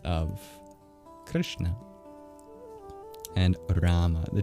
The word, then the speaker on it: Krishna: K is the exact same in English, although it's probably less aspirated than we pronounce it in English, because English doesn't differentiate sounds based on whether you aspirate them or not, whereas Sanskrit does.